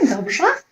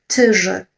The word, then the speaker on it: dobrze: Okay, dobrze.